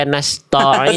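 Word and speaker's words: نستعين: Dan huruf tipis ketika vokal A jelaskan ma, jangan mo, ya nasta'in jangan to, tapi ta.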